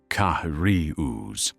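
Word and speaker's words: Carius: One German tank ace, Ottoarius, surname pronounced Kahari, recounted in his autobiography how his crew would intentionally delay until British tankers dismounted before attacking.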